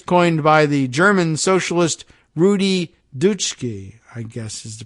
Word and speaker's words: Rudi Dutschke: Rufo often talks about the, quote, long march through the institutions, a phrase coined by the German socialist Rudi Dutschke, I guess is the pronunciation of that, in 1967, but frequently attributed to the Italian communist Antonio Gramsci.